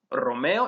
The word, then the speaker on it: Romeo: would be pronounced as Romeo es mi amigo puertorriqueño. And you would roll the R's in Romeo, since the R is in the initial position, and in puertorriqueño, since there's a double R.